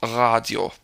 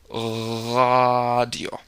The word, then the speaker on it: Radio: explain it well so here's another example radio radio and if you want to roll it can't always do it righto radio see you don't